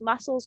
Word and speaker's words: muscles: batteries i love that recharge my batteries you pronounce muscles correctly you had a great starter you answered